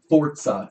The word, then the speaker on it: Forza: Forza is how you pronounce Where's it.